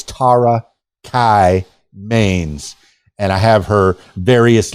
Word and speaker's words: Tara Kye Maines: So I encourage you to follow Tara Kai Mains, and I know I've pronounced her name 12 different ways, but it's Tara Kai Mains.